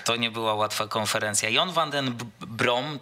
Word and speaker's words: John van den Brom: nie była łatwa konferencja Jon Van Den brom tak podobno czyta się gdzieś jego imię i nazwisko chociaż gdzieś tam też